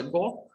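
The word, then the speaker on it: gård: І тут знову є питання до того, що це Гаарт, не читається Гаар, це Го, тобто двір або ферма по-данськи, який він сфотографував самостійно.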